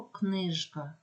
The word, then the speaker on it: книжка: залишаються дзвінкими наприклад слово книжка Ми чуємо і маємо вимовляти звук Ж або слово гриб в кінці